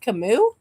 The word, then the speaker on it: Camus: It's pronounced Camus.